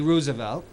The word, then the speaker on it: Roosevelt: Pulitzer Prize winning biography about Teddy Roosevelt which is the proper pronunciation his FDR they're fourth